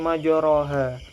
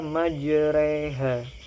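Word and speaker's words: مجريها: tidak dibaca fathah ya harakatnya fathah tapi dibaca kasrah contohnya di sini majroha tapi dibaca majreha nah ini merupakan bacaan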